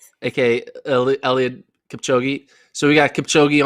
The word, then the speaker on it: Eliud: His name's rhymes with Billiard Kipchoge, a.k.a. Eliud Kipchoge.